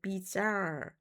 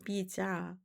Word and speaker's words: bizarre: 세부적으로 나뉘는데 괴이한 망상, 미국 발음으로는 이제 bizarre, 근데 영국 발음은 이제 bizarre. 그래서 망상 내용이 매우 괴이하고 엉뚱한 경우, 허무망상, nihilistic, nihilistic 허무망상이라고 하는 것은 이게 바로 보면 허무주의라는 그런 단어거든요.